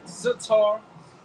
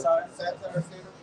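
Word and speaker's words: satyr: And the sitar How you say it? Satire.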